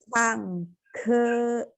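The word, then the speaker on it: 唱歌: chang, ke, Enggak, G tidak ada angin. G baca K biasa aja.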